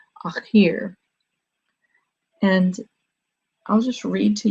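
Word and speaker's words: الآخر: the Arabic language is al-akhir. It's spelled A-K-H-I-R in the English transliteration, akhir.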